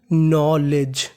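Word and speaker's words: knowledge: एओड इसे पढ़ेंगे नौ n से पहले k लिखा है तो के हमारा साइलेंट रहेगा अगर आपको कभी n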